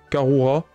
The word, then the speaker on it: Karura: Je le prononce à la japonaise, mais Karura.